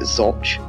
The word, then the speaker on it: Zouch: Ashby Castle, or Ashby de la Zouche Castle, or as some pronounce it, Zouche, was built in 1473 and completed in around 1483.